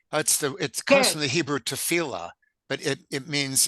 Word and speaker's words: tefillah: Okay, but you wouldn't in Hebrew tefillah wouldn't be written with a tes? No, it comes from that word, but it isn't that word. So tifla, it's an intentional mispronunciation of tefillah.